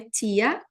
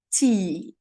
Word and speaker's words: tea: A pronúncia não é tia, a pronúncia é tea.